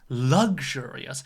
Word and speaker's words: luxurious: word luxurious okay now be careful with the stress it's not luxurious it's luxurious so the stress is on the second syllable but with the noun